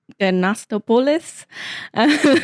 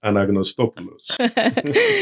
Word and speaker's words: Anagnostopoulos: But his name is Anastopoulos, which I definitely did not say right. So please, tell me your name. Great pronunciation. It's Anagnostopoulos. There we go. That's the right way to say it.